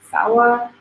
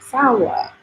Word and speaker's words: sawa: I say sawa, because I would pronounce it more American, like sawa, but it's like sawa. I think I'm probably still saying it wrong, but it's like more like the inflations are up and down. It's like more singy songy, if that makes any sense.